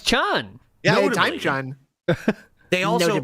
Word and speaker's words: Spike Chunsoft: It looked like Chun. Yeah, Time Chun. They also own a large amount. It's pronounced Reuters.